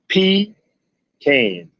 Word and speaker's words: pecan: And at the side of it, it says it is pronounced P can.